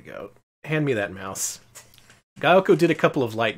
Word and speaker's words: Gaelco: Gaelco. That's how you pronounce it. They told you. Gaelco.